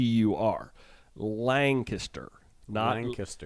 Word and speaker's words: Lancaster: right they are hard so I think we pronounced the name of the town land caster very wrong as land caste and I got an Instagram correction with a picture that said it is Lancaster Lancaster Lancaster I've heard it said that way